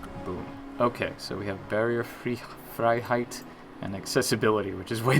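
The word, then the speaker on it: Barrierefreiheit: Okay, EI is pronounced like I in German. So, Barrierfreiheit.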